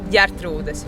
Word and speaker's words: Ģertrudes: Se dice Gertrudes, lo dices bastante bien, pero claro, Sí, falta un poco.